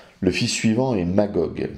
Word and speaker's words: Magog: le fils suivant est magogue qui se prononce ainsi aussi bien en grec qu'en hébreu nom assez connu pour